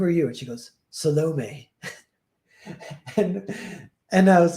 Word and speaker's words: Salome: And she goes, Salome. and I was like, that was great, but you're putting the wrong emphasis on the wrong syllable.